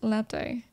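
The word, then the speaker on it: лапти: They'll make lacti out of you. Lapti. It's pronounced lapti, and they're made of bark.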